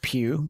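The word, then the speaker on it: Pugh: Uh the artist on this series, his name is Steve Pew. P U G H. not not pew pew but like feel like Florence Pew though it's spelled like that.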